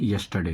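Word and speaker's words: yesterday: दोस्तों पास्ट में यस्टरडे अब इसमें भी देखिए आर साइलेंट होता है लिखा रहता है यस्टरडे बट इसको हम पढ़ते हैं यस्टरडे क्योंकि हर इसमें साइलेंट होता है।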